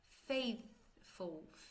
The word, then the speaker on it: faithful: Faithful, faithful, faithful. Tem o TH, tá? Faith, aquele surdo, aquele que não tem som, vibração. Faithful, ok? E aqui, na última linha, olha o tamanho, 4 sílabas.